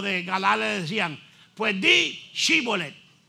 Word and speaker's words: Shibolet: ahí entonces los de galal decían pues di shibolet y ellos decían cholet porque la No la pronunciaban verdad y como no pronunciaban la se